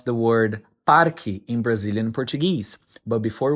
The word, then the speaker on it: parque: The correct pronunciation is once again parki. However, pronunciation can vary depending on the region.